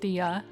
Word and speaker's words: Dia: turned the uh into an a although it's pronounced DIA they had so many limitations back then that